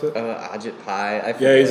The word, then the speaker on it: Ajit Pai: How you pronounce it? Ajit Pai.